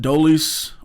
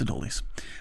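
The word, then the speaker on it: Adolis: And then also, what are you doing with Adoleis? Are you flipping him for bullpen pieces? Do you keep him? Sorry, a raldis. Yeah. No, I said it right. It's a dolies.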